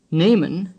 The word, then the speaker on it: nehmen: Nehmen has a long E sound.